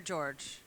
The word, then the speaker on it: Georges: So that's Atelier George. Atelier Georges. Okay, that's a much better pronunciation. It's my last name. It's Georges, but in French it's Georges.